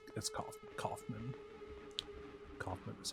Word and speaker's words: Kaufman: Kaufman is how you say that.